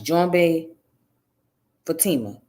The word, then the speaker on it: Djoumbé Fatima: fatima it's pronounced as john bae fatima so the d is silent okay the d is